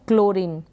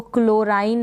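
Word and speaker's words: chlorine: यूज़ किया जाता है, क्लोरीन, क्या पढ़ेंगे, क्लोरीन, इसको क्लोराइन नहीं पढ़ेंगे, क्लोरीन, क्लोरीन। सी चोलोरिन भी नहीं पढ़ेंगे, सी के बाद में एच साइलेंट रह गया, तो क्लोरीन इसका प्रोनाउंसिएशन आप इसी तरीके से इनकी प्रैक्टिस करें।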